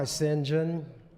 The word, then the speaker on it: St. John: president awake my Sinjin that's the way Alexander Pope in his day pronounced what we was called st.